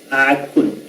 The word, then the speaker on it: akun: Akun. ¿Ya? A ver. Akun. Akun. Akun. Akun. Es la U. Akun. Akun. Akun, es una U esa.